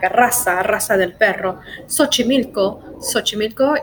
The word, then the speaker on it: Xochimilco: and then we have the pronunciation as an S Xochimilco so cheetah Xochimilco and